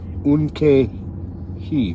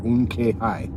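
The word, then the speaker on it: Unktehi: The T in KTE is silent, so K, that would be Unke-hi or Unke-hi.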